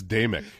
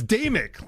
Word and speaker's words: Damick: It's Damick. It's Damick, like night and day, Mick.